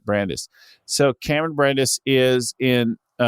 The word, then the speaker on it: Brandis: in our world do so well so Cameron Brandeis Brandeis Brandeis Brandes didn't get the pronunciation of your name people are gonna hear